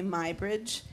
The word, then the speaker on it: Muybridge: will just say that English people say mybridge and since he was English that's the way I've always gone because it's in England it's pronounced mybridge but yeah it's a